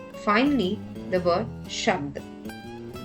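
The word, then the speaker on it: शब्द: Finally, the word shabd. Here, bha becomes half letter and joins the sound dha, making it to sound ibd. Shabd, shabd.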